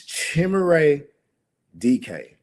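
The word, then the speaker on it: Chimere Dike: I've been saying his name wrong the whole time. I done shouted him out a few times on here. It's Chimere DK.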